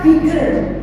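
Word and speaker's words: bigger: Misal kayak kata bigar lebih besar biger paling besar biger. Ya, meskipun double G hurufnya dobel tetapi bacanya cukup single ya.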